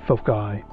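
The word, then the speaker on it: foci: And by the way, as far as things goes, since we're dealing with two focal points, the the right way to say it is folky, and that's fi.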